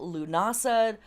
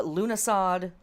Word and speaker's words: Lughnasadh: the Year 2023 cycle lunasa uh lunasod it's pronounced both ways the first harvest and